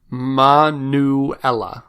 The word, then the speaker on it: Manuela: She gave us the phonetic pronunciation of her name. Manuela.